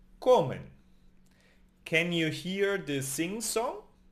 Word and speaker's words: comen: For they eat, we say in Spanish, comen. It ends in N. And the N also belongs to the nose. So, comen.